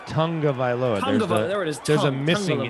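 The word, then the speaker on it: Tagovailoa: not remembered I was actually corrected how to pronounce to his last name it's not tag OFA no it's Tong of vioa there's a missing n that doesn't exist but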